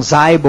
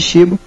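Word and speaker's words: Xibo: tem as pessoas tem que falam zbo ou caibo tem vários pronúncias a gente tem chamado de shibo ele é um um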